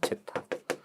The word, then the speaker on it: 제타: 무한 진동이 일어나는 감쇠율요 기호가 제타라고 읽어요 제타 그래서 무죄동을 찾아내는 겁니다